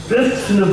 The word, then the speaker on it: कृष्ण: बोलते हैं आप लोग, कृष्ण बोलो, कृष्ण बोलो, स हलंत बोलो, फिर न पूर्ण बोलो। स को हलंत न बोल करके आप पूर्ण बोलते हैं, वो उच्चारण ठीक नहीं बैठता।